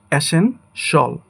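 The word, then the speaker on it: essential: সো প্রথম word যেটা আছে সেটাকে আমরা যেভাবে উচ্চারণ করি সেটা হলো এসেনশিয়াল। বাট এটার কারেক্ট ফোনেটিক্স হবে বা প্রোনাউন্সিয়েশন হবে এসেন সল। অর্থাৎ শিয়ালের জায়গায় হবে সল।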